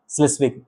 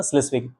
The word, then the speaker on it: Schleswig: Holston, ठीक है ना, इसको उच्चारण करने में दिक्कत होगा तो लिख दिया हूँ, ठीक है ना, स्लेविस क्या है, स्लेस्विग, ठीक है ना, स्लेस्विग, स्लेस्विग एंड होल्स्टन, ठीक है।